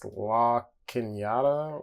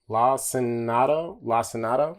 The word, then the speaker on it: Lacinato: This is the I think it's La Quinata or La Quinado. I believe that's the correct pronunciation. La Quinata. Lacinato.